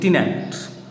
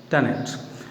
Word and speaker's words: tenant: We Indian English pronounce it tenant, but actually it is tenant.